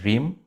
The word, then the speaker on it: Reem: pronounce your name correctly it's Rim Yeah so it's like long e right yeah if you know French it's like an i r i Am is also another way you can pronounce it I learned French